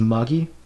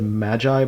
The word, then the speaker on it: Magi: And then Magi, I think is how people have said it's supposed to be pronounced as Magi. I said Magi before because, I mean, Gift of the Magi, like from the Bible, made sense to me.